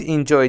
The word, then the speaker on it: enjoy: But you don't enjoy the lab. But you don't enjoy the lab. But you don't enjoy the lab. Enjoy, the stress is on J, means to get pleasure from something.